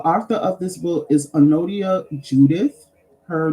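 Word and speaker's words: Anodea: self um the arthor of this book is anodia Judith her name is spelled a n o d e a um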